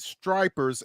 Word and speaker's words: Stripers: playing, the Gwynette Stripers, S T R I P er, and someone was pronouncing it. They had an alternate pronunciation for it. And I'm like, yeah. So, I'm like, no, that's that's not it. It's one P.